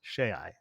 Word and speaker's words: Shai: why she said my name is Shay, because she pronounced it using the Airlon, or the Aeonic alphabet, which you pronounce all of the vowels in the long. So SHAI is Shay.